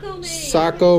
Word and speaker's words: Saco: RVs Inc check them out how do you pronounce this a co Maine Saco Maine and I'm sorry what was your name